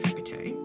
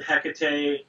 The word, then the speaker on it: Hekate: I would imagine that it's pronounced different ways at different times. I was always told Hekate. Sometimes I will slip into Hekate. However, I'm not a Greek scholar or a Latin scholar, and we're talking about a goddess that had been worshipped for hundreds of years in different regions where pronunciations differ.